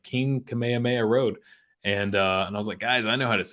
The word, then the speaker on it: Kamehameha: Broly oh yeah dude with the the Kamehameha wave or Kami hamiha I say Kamehameha now because uh once you've been to Hawaii you know you've been saying it wrong your whole life I remember I went